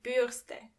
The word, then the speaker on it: Bürste: And remember, you don't pronounce the R as R, but more like R. So the word is die Bürste.